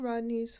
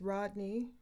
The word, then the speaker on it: Rodni: okay let's read Kylie Rodney's full coroner final report of Investigation I just received today Thursday October 13th so the final classification is an accident for Kylie Mai I believe it's pronounced Rodney born September 1st 2015.